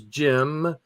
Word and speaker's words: Cem: That's Jim. That's pronounced Jim.